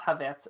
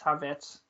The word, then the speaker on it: Havertz: You, for some reason, thought it was pronounced Havertz and it was a silent R.